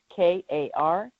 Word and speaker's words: Karman: And just look under Karman, and that's Karman, like karma with an N.